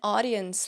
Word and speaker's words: audience: Audad audience and audience leader, né? Então, audience tem esse som de ó, é que nem auditorium, é que nem aquele aplicativo Audible da Amazon, sabe?